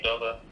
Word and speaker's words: Udoka: And then Udoka, I think he said Udoka. Yeah, you said it right.